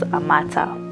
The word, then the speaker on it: Amata: with that name yeah Amata the pronunciation is a matter and they like it